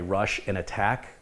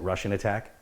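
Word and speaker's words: Rush'n Attack: people don't know gorf a friend of mine used to play rush in attack kind of pronounced it Russian attack and berserk battle zone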